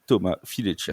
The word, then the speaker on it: Thomas Fileccia: Il a joué aussi pour Milan l'an dernier, il est arrivé chez Mousquetaires cette année, il porte le numéro 71, c'est Thomas Fileccia.